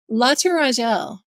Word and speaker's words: La Tourangelle: this How is was that last one pronounced? La Tourangelle.